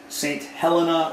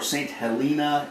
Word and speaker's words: Saint Helena: a prison island and it's called saint helena or saint helena either one of those pronunciations would be okay and this is where